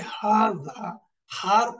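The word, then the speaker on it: هذه: একটা বিষয় এখানে একটু বলতে হয় যে এই হাজিহি is pronoun age হাজিহি বাট is written without the আলিফ আসলে এই যে হাজা হার পরে একটা আলিফ আছে এজন্য আমরা উচ্চারণের সময় একটু একটু লম্বা করে পড়ি হাজা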